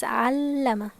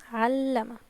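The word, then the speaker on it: عَلَّمَ: But with Shadda, it's Allama, Allama. So we put stress on it.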